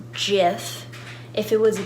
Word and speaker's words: Jif: my Jif peanut butter it's a J so that's why it's pronounced jiff if it was a